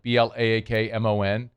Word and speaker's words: Blaakmon: and it was like Blaakmon. He's like, how do you say it? It's like Blockman.